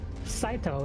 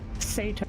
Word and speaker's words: Saito: that would be pronounced Saito, not Sato, you Brit.